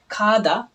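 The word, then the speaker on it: 가다: তো খাদা। তো এখানে একটু ব্যাপার বলি। কোরিয়াতে কোরিয়ানরা যখন গটা প্রথম উচ্চারণ করে তখন তারা গটা উচ্চারণ করার ক্ষেত্রে গটাকে হুবহু গ দিয়ে বলে না।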